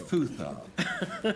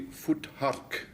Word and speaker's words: Futhark: Futhark. Yes. Well, let's start anyway. Now Godfrey's turn. Godfrey. Well, Frank hasn't quite got the pronunciation right. It's actually Futhark, and it's Scandinavian folklore for a werewolf.